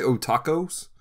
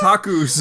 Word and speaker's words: otakus: Did you say otacos? Did I say it wrong? Oh my gosh. Do we edit that? No, we're leaving it. No. Otakus.